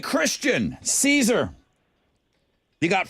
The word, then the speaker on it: Kristen: Is it Kristen? Christian with a K.